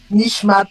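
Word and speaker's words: נשמת: Ma il faut faire la lison avec le tave à la fin. Nichmat.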